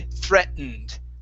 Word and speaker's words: threatened: and an N okay we can swallow that t and say threatened threatened threat threatened threatened